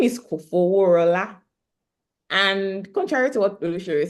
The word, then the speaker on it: Kofoworola: to what Olushiri said, it's not really easy to pronounce because some people call me Kofoworola. Go. I've heard different variations, and in fact, I hear that I don't even pronounce it well, like in interesting. the Yoruba way of pronouncing the name, but for all intents and purposes, we'll take the pronunciation that I'm giving tonight.